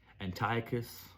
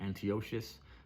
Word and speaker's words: Antiochus: Um, they're under the king um, Antiochus or other pronounced um, Antiochius um, called Epiphanies.